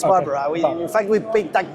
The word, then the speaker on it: Barbara: Okay, Am I saying Barbara right? Because that's the way I say it. No, that's perfectly pronounced. It's Okay. Barbara.